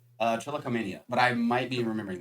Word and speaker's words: trichotillomania: Trichotillomania. Trichot. I'll trust that. Mhm. That's how it's pronounced.